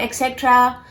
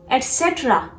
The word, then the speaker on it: etc.: This is not etc. This is etc. Etc. You have to focus on the second syllable.